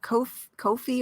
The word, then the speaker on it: Ko-fi: It's kind of like, that tip jar type of thing where Ko-fi you can rhymes with no fee.